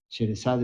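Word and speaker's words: Sherezade: ¿Saben que Rimski Kosakov hizo esta obra musical e Sharazad? Sheresad muchas veces se pronuncia por influencia del francés, ¿no?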